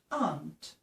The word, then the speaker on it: aunt: Eu falo aunt. Aunt. Tá? Quase a pronúncia de ant, com formiga, mas não confundam formiga com tia.